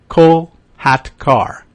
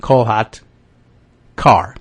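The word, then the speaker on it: Kolhatkar: of sheila s-h-e-e-l-a and last name by the way k-o-l-h-a-t cole hat car k-a-r co hot car colat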